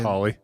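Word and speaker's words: Holle: o l l e I don't know how you'd pronounce that hly hly yeah it's just Holly Swedish folklore has uh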